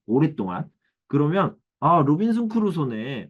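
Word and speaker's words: Crusoe: 로빈슨 크루소인데 여기 보면은 로빈슨 크로이츠나에르라고 이렇게 나와 있죠. 이게 뭐냐면은 아버지가 독일 사람이에요. 근데 이게 영국에서 살았으니까 영국식 발음으로 크루소 이렇게 되어 있다.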